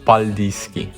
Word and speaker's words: Paldiski: He called this place the Baltic port, and when Estonians pronounced it, it sounds like "Paldijski" today .